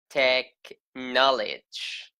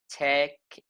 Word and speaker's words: technology: So a lot of people today they make this mistake and instead of technology they say tech knowledge. So tech knowledge it's absolutely wrong. And the correct form is technology.